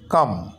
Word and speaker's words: calm: এরকম এম এর আগে যদি এল থাকে, তো সেই এলের উচ্চারণ হয় না, CALM কাম।